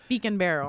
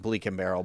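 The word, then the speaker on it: Beak & Barrel: Beacon barrel. Beacon barrel cuz I kept saying bleak and barrel by accident.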